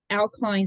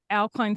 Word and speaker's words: Au-Kline: And how do you pronounce that? Au-Kline Syndrome. Au-Kline Syndrome.